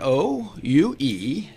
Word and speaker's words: Ouellet: Well, I traditionally spell it O-U-E-L-L-E-T, but there are many, many iterations of that there that are.